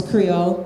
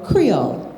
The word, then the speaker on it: Creole: And I noticed that you resisted the temptation to pronounce Creole, Creole. You almost Americanized it there.